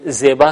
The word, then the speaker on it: زیبا: یہ باغ خوبصورت ہے۔ زیبا جسے ہم اردو میں زیبا کہتے ہیں، فارسی میں زیبا تلفظ کریں گے۔ اس کے علاوہ باقی